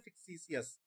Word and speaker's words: fictitious: फिक्टिशियस, FICTITIOUS, लिख नहीं लगे, FIC, फिक टी सी अस, लेकिन बोलते हैं फिक्सीसियस, लिखते फिक्टीसियस।